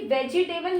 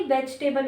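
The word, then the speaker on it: vegetable: ये भी वेजिटेबल नहीं होता, ये वेजिटेबल होता है। इसकी जो करेक्ट प्रोनाउंसिएशन है वेजिटेबल, वेजिटेबल, ठीक है, वेजिटेबल।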